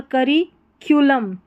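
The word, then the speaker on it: curriculum: अब इसको कुलम या कलम ऐसे नहीं पढ़ना है, करिक्यूलम इस तरीके से पढ़ना है।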